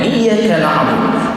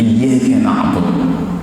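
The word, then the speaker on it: إِيَّاكَ نَعْبُدُ: Jadi dengan tasydid iyyaka na'budu. Karena sering para imam-imam di kampung kita itu sering tidak membacanya tanpa tahiyat. Iyyaka na'budu. Jadi artinya berubah dan bahaya, Pak. Kami menyembah cahaya matahari.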